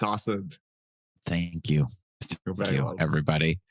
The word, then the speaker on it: Asad: It's Asad.